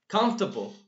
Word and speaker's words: comfortable: as you see it's it's very fascinating yes comfortable comfortable comfortable let's make this small so that